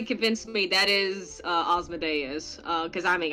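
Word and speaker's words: Asmodeus: an o in seven a yeah so it's pronounced as an o but it's spelling it instead of uh asthma osmoday yes yeah there you go yeah that's that's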